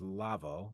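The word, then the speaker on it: לבוא: Okay, so one is atid, the other is lavo. Another term related to future is pronounced lavo.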